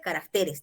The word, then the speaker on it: caracteres: Señorita, en este caso, mire, el singular es carácter y el plural es caracteres. La sílaba tónica se mueve, ¿sí? Hay algunos casos como este. Régimen es el singular y la sílaba tónica está en re. Y cuando pasa al plural sería regímenes. Entonces, ¿puede haber ese traslado